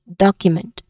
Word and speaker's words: document: The stress syllable is on doc or the first syllable document.